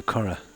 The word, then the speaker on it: Curragh: But that scene was filmed, IROC, on the Curragh.